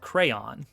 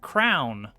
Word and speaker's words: crayon: and it had checkpoints how do you pronounce crayon I go with crayon uh my wife uh actually grew up with crown as her pronunciation jelly see and that's